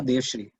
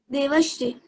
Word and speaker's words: Devashri: Devshri from, are you Devashri or Devshri? Devashri. Devashri, I think Devashri has spelled your name wrong.